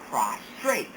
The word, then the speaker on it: prostrate: for example we have two words here prostate and prostrate the term prostate refers to the gland at the base of the male bladder prostate as this refers to the land at the base of the male bladder the next term is prostrate this is pronounced prostrate this means to be